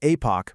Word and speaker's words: Aepoch: By putting these two things side by side, we're going to see exactly why the epoch, and yes, that's pronounced Apoch protocol is the absolute essential base layer we need right now.